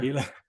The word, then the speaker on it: Pela: Is that how you pronounce it, Pela? Yeah, you can call it Pela, for sure. Pela.